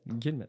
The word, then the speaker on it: Guillemette: Alors aujourd'hui, nous recevons dans mon petit studio Guillemette. c'est ça, c'est Guillemette? Guillemette. Ouais, Guillemette, Guillemette. Bon, voilà, je vais le prononcer comme ça, si tu permets, Allons-y.